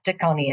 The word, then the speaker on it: Pacini: It's spelled like Taco, New York, right? Yes. Taco and then NY. So we kind of talk about that a little bit here in kind of a funny way. Yeah, Taconi is how it's pronounced.